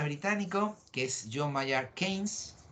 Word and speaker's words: Keynes: En 1936, fijaros qué año más malo para España, hay un economista británico que es John Maynard Keynes, y ahí pone pronunciado Keynes, no Keynes, ¿vale?